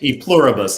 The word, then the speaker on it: Pluribus: say it yes yes pluribus is four syllables you're exactly right says